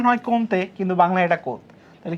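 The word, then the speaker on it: Comte: উচ্চারণ হয় কমতে।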